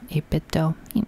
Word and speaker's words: 8BitDo: on everything I have in my hands the 8-bit to zero controller and yes that is the pronunciation according to their YouTube channel because Nintendo 8-bit dough whatever so this controller I like it I